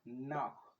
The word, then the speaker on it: knock: Sai wannan K silent ita ma K silent in dai kuka ga da K da N sun zo a kalmar turanci da K da N to K ɗin is silent. In dai kuka ga K da N to wannan K ɗin ta farko is silent daga kan N ɗin za ka fara furta kalmar kawai.